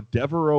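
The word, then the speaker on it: De'voreaux: die hard okay uh wow i'm gonna go deveraux white right his his first name is spelled d e apostrophe v o r e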